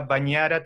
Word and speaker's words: Bagnara: n entonces en realidad yo sabía que cuando decía bagnara tenía que decir va a bañar a la gn es una n claro entonces siempre siempre